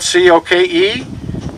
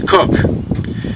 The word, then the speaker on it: Coke: talks about edward cook his name is spelt c-o-k-e it's not coke it's cook he started practicing law